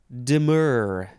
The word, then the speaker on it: demur: you listening to this the next word is dimmer d-e-m-u-r first form intransitive verb from the 13th century no this is not the word demure that's that's coming up